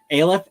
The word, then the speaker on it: Aleph: They all say Aleph, but it is a Jewish word.